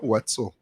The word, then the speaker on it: Wetzel: I don't know how to pronounce his name. Kobe Wetzel? Oh, Wetzel.